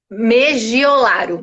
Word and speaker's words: Megiolaro: Megiolaro. Megiolaro, então eu falei certo. É a mesma pronúncia é o que está escrito.